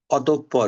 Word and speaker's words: অতঃপর: নিঃসন্দেহে নিঃসঙ্গ নিঃস্বার্থ নিঃস্ব অতঃপর উচ্চারণটা খেয়াল রাখবা পরটা ডাবল হবে অতপর অধপতন প্যন্ত আসছে